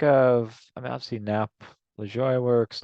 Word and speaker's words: Lajoie: I mean, obviously Nap LaJoie works. LaJoie, I should say. Pronounce his name right.